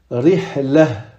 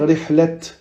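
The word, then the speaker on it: رحلة: Et on va dire rihlah. Rihlah. On va pas dire rihlat.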